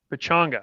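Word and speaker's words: Pechanga: Pachanga. That's how you pronounce it.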